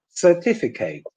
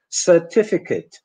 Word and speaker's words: certificate: you end up only having a foreign accent certificate ultimate delicate corporate Emirate and now compare it with the correct English pronunciation certificate ultimate delicate corporate Emirates yeah so so there's